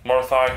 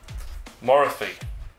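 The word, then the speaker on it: Morathi: got the high oracle marathi herself sorry morathy yeah i got um called out on the way i pronounced her crowd while they say wrong theme so it's more thigh not morphy but i'm going to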